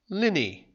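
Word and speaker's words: linhay: a china clay killer this part is called the linnhe or as it should be pronounced lynnie where trucks would collect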